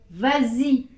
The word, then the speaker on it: vas-y: aussi ce serait pareil il faut rajouter ce s pour la prononciation pour pouvoir dire bah si mais si je